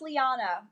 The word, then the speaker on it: Liana: It's pronounced Liana.